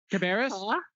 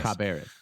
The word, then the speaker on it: Cabarrus: Caribas County is a perfect example of what we're fighting for.